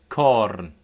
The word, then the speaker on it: corn: C as in English K, so k. And this occurs at the end of words, finally, uh before back vowels, and back vowels are A, O, U, and before consonants. So, we have our examples here. Tac. Day. Corn.